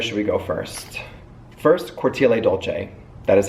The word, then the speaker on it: Cortile Dolce: parfume so where should we go first first Corti Dolce that is how you pronounce it you're pronouncing a at the end